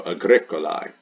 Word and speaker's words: Agricolae: This is the genitive singular ending, A-E pronounced I. This is the noun's gender, which is masculine. And this is the English definition, farmer. So this is the nominative singular. It goes in the nominative singular blank. This is the ending for the genitive singular, A-E pronounced I. It goes in the genitive singular blank.